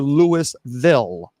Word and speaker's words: Louisville: The capital of Kentucky, is it pronounced Louisville or Louisville?